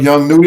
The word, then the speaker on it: Young Nudy: I don't know why they named they S Young nudy am I pronouncing that name right yes one is Young